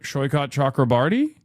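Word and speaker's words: Saikat Chakrabarti: For the love of God, please pronounce his name correctly, but Shoykot Chakrabarty? I am pronouncing his name correctly.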